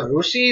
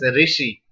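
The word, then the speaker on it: ऋषि: So, Rushi is written, but people already pronounce as Rishi. It's not Rishi. Rishi Kapoor. It's not Rishi, it's Ru. Ru vowel is there. So, don't pronounce as Ri. Many people pronounce as Ri, but that is wrong. Ru vowel is there. Ru, not Ri.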